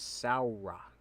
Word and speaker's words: Samhradh: aww sound so it's Sal rock you don't pronounce the H don't promise the a.m